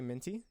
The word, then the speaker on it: Mint UI: Just say Minty.